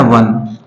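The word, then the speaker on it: one: देखिए ये लिखा है वन इंग्लिश जहां तक बात होती है इंग्लिश में एक ऐसा वर्ड वन एक ऐसा वर्ड है जहां ओ का उच्चारण वा होता है क्या होता है वा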